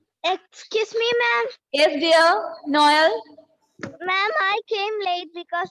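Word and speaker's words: Noël: L'autre example, say Noel.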